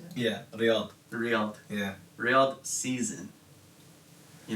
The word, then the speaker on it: Riyadh: Yeah, Riyadh.